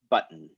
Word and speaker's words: button: realistic at all but we generally pronounce this button um so yeah i'm